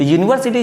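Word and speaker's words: university: देख लीजिए यूनिवर्सिटी तो यूनिवर्सिटी जब आप लोग बोलते हो तो यूनिवर्सिटी में यू आता है यानी या आता है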